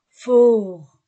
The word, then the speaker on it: fort: Vincent il est fort fort je ne prononce pas le t il est fourt il